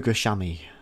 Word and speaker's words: Fukushima: Let's go to Fukushima.